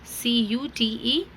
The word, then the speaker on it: cute: एंड E is silent, CUTE cute.